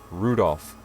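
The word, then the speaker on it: Rudolf: on it's just anyway this guy's name is pronounced rudolph he must hate grandfather for giving him that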